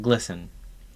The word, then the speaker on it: GLSEN: Think of all these groups as satellites of a mothership called GLSEN, pronounced GLISTEN, formerly the Gay, Lesbian, and Straight Education Network.